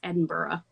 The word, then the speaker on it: Edinburgh: edinburgh like edinburgh like i didn't know how to say it right but that was like way at the beginning before like really my outlander stuff where now i know it's edinburgh is where he you know that's how you say it yeah opera bra